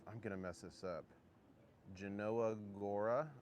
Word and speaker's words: Jelenia Góra: Genanoa Gora, I believe is how you say it.